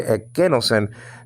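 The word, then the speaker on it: ἐκένωσεν: You don't do that, or you don't say, you don't say no sen, no, because the accent is on the second syllable.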